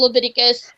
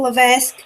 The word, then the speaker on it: Levesque: And he becomes back to being Triple H, the superstar, not Paul Leviticus, the executive, whatever. Paul Levesque. Would you pronounce it properly, please?